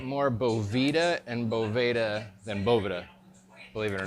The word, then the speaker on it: Boveda: were Voevoda you know we've probably get more mispronunciations than the actual correct pronunciation but it's boba de boville we've actually had someone say beau Vesta and I don't know where you get the s from but people call it